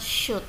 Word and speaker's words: should: Should ini bacanya should, should, should, ya, sh dibaca should, ya. Sedangkan huruf o nya nggak usah dikeluarkan, l nya juga nggak usah dikeluarkan, berarti yang bacanya should, begitu.